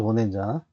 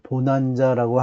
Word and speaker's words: bonanza: 어 과거에 이제 마카르니 웨스턴 서부 그걸 미국에서 이렇게 어 발표할 때 보난자라고 한국말로 번역해서 그렇게 영화가 나왔던 경도 있는데 원래 발음이 보낸자라는 발음밖에 없습니다.